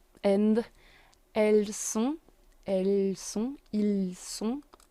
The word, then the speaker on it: ils sont: Then we have ils sont in L and elles sont, ils sont. T is silent. It's just the sound on.